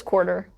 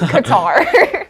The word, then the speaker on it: Qatar: in Qatar Qatar Qatar Qatar spelled with a Q I didn't I thought it was quarter no it's not it is guitar so how did you